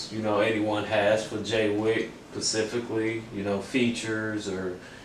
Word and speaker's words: J4Y WICK: can look me up on youtube jwik it's it's spelled j4y wi-ck instagram is j4y hyphen w-i-c-k facebook is just jaywick facebook.comic j4y and uh i'm not up on